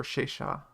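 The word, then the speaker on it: Sesa: in the game yeah it's pronounced or shaysha oh it has a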